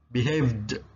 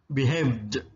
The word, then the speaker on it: behaved: Behave, kalau pakai ed bacanya jadi D. Behaved, behaved, berkelakuan.